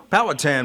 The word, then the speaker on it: Powhatan: I was right in down here, and yes, and is it Powhatan or Powhatan? How do you pronounce it? Powhatan, most people say.